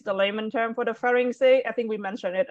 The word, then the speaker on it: pharynx: Next one is pharynx. All right, I want you to pronounce the X for me, pharynx.